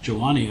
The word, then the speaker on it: Giovanni: Steve before this meeting whether the word is pronounced Johanna yes that was or y'all wanna go and Steve confirmed that it's Giovanni oh but then you